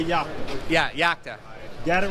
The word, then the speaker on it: Yakta: correct way to say the brand I say yaka yeah yaka got it right I got it